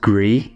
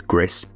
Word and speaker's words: Gris: then with Gris now I originally thought this was pronounced gree cuz I thought it was the French but I believe it's actually the Spanish and I think that pronunciation is GIS this is a beautiful